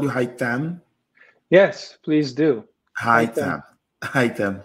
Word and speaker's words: Haitham: What can you tell us about yourself, Haitham?